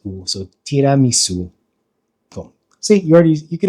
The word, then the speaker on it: tiramisu: And then there's a u, which is pronounced. So tiramisu.